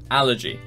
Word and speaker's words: allergy: Allergy, objective, physical, strategy. Can you tell from my voice which one it was? The answer is two, objective. That's the odd one out. Allergy, first syllable.